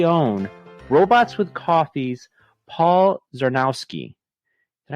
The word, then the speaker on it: Czarnowski: So I chose to take this time to recognize Chicago's very own Robots with Coffee's Paul Czarnowski. Did I pronounce that correctly?